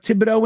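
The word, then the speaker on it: Thibodeaux: I mean, I'm trying to imagine like Hutchinson at 4 and Thibault at 10. Like that. Thibodeau? Yeah. Thibodeau. Yeah, I always say his name wrong.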